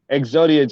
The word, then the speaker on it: Xodia: Exodia. Doing good. How are you? How are you? I said it right? Yes, sir. Exodia, just like Yu-Gi-Oh.